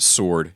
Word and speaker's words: sword: But Joe, it's pronounced sword. You idiot. Sword. Don't overpronounce the W.